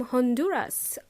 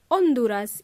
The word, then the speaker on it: Honduras: hello to Edwin from Honduras or Honduras in Spanish because in English we pronounce the letter H thank you for your